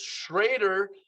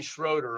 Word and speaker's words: Schrader: Now, Drew has a very specific pronunciation for his last name. It's Schrader. Don't call me Schroeder on that.